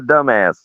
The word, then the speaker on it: Dumass: let me tell you the adventures of the dumbass foreign I pronounced it differently because I was like don't